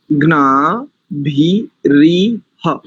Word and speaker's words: ग्नाभिरिह: ग्ना भी री ह, ग्ना भी री ह, ग्ना भी री ह, ये इसका शुद्ध उच्चारण।